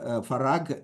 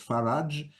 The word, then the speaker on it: Farag: abdad asan Darwish far farag in the Egyptian Arabic pronunciation in classical Arabic it's faraj hi uh marzuk Etc